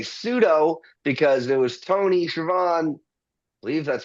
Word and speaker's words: Tony Schiavone: I say pseudo because it was Tony Schiavone, I believe that's how you pronounce his name.